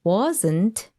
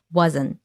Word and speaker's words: wasn't: a day and also what happens with wasn't it loses its tea which we'll talk a little bit deeper more later right but that's why you don't hear it here wasn't wasn't we lose the T sound Rome wasn't built in